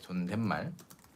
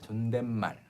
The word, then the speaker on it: 존댓말: Why is the 시옷, 사이 시옷 pronounced like 니은 before 말, 존댓말? Why is it pronounced like 존댓말? And the reason is here. 존댓말. You like if you read everything one by one, 존댓말. But in Korean, when you pronounce the last consonant of a syllable, you do not open your mouth again to pronounce the end like English.